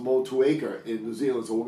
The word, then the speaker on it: Motueka: it's a city in new zealand and it's pronounced motueka in new zealand so we're gonna call it